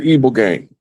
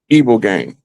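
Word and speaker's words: ibogaine: Well, the only known natural substance that will naturally help you kick the habit is the evil game.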